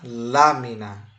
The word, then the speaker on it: lámina: palavra abaixo de alma a palavra lámina Essa é fácil ó o assento tá em cima do La então a sílaba tônica é la ou seja a sílaba tônica está sendo a anti penúltima por isso eu vou chamar essa palavra de palavra esdrújula certo muito bem e